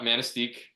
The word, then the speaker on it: Manistique: Manistique, Michigan? Yeah, Manistique.